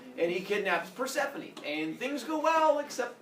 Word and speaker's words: Persephone: like Persephone, but without the T, so it's Persephone. And he kidnaps Persephone, and things go well, except that apparently Persephone's mom misses her.